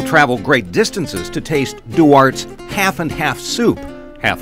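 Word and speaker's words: Duarte: we are Pescadero Pescadero do arts they make the best today how would you know Tim do want good to see you semi announce it yeah do art with a silent e what's unique about this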